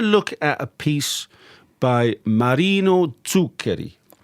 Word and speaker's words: Marino Zuccheri: So Yes, so we're going to look at a piece by Marino Zuccheri. That's a very good pronunciation.